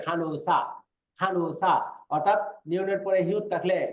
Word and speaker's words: 간호사: তারপরে 이분은 누구세요 간호사입니다, এটার উচ্চারণ কিন্তু দেন খানহুসা এরকম না, উচ্চারণ হবে খানুসা, অর্থাৎ নিয়নের পরে হিউত থাকলে এই নিয়নটা হিউতের সাথে মিলে গিয়ে উচ্চারণ হবে খানুসা।